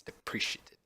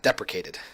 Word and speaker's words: deprecated: It's depreciated, or depreciated. I can never say it right. Deprecated. There we go. I just want to say depreciated, but it's deprecated.